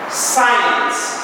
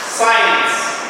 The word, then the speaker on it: signs: We call all these are signs. Signs. And remember, the G letter is silent. Don't pronounce it. Signs.